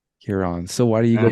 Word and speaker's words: Ciaran: I said. I said Kyran. Kyran is closer. It's Kieran. Kieran. Okay. So you know the English thing, no Kieran. No, Kieran. Kieran, so it's spelled Kieran. Kieran, I think, is the English way. Well, mine is the Irish way of spelling it. So it's Kieran.